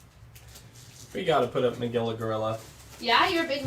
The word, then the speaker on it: Magilla Gorilla: like specifically Manila gorilla I remember Magilla Gorilla but oh see I didn't even say it right I said he was Manila gorilla like he was from the Philippines okay here we go